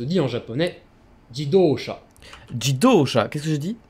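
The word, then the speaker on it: 自動車: certain qu'ils trouvent c'est ça jy d'eau chat ji doshas on va écouter sa prononciation l'automobile se dit en japonais guy d'auchan jidosha qu'est ce que je dis tauch à jeudi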